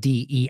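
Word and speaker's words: Deif: charge of the AL not Dave like the subtitle show but de I believe it's spelled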